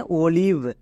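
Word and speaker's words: olive: হয়েছে কেন আমরা জানি তিন নম্বরে যদি আই থাকে আই এর জন্য আগের ভাওয়েলটির উপর রুলস কাজ করে না তখন যদি লং সাউন্ড হই আমরা এর উল্টোটা করবো মানে শর্ট সাউন্ড করবো যেমন দেখো ও এর short sound oh এল আই এর জন্য লয়ে অবস্থি ভি এর জন্য ভো মানে অলিভ বোঝা গেল তিন নম্বরে যদি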